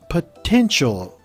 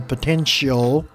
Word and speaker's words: potential: event all right um potential spelled phonetically per 10 like the number 10 and then chol some might put a CH there show a potential uh but in as